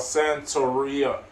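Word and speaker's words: Satouriona: the powerful king called Santoriona is how they say it, but it's spelled in different ways.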